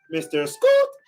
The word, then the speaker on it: Mr Scoot: long long time viewer mr scoot 21 from twitch says michael can jet lag say hi to me and say my name my name is pronounced mr scott it would make my